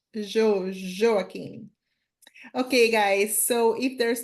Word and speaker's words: Joaquim: I think what you're trying to say is Joaquim, most probably. You see, That's Joaquim, Joaquim. That's it. There you go. So that's the Brazil. Yeah, that is. It's not easy to pronounce the J. Yeah, but Brazilians we say Joaquim.